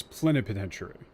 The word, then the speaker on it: plenipotentiary: Oh, it's plenipotentiary. I've only ever seen the word written. Fucking hell. Actually, how do you pronounce this?